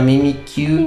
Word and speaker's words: Mimikyu: And actually, I don't know what to pronounce the name. Is Mimikyu? Mimikyu? No, Mimikyu.